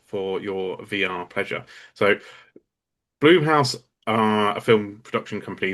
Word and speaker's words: Blumhouse: Blumhouse? Blumhouse? I would say Bloomhouse.